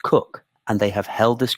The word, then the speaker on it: Coke: The family who built it and who still live in it are called Coke, pronounced Cook, and they have held this ground since 1734.